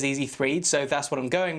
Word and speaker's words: EasyThreed: The EasyThreed, and I'm guessing it's supposed to be pronounced Easy3D, but it's written as EasyThreed, so that's what I'm going with, is available in blue and black.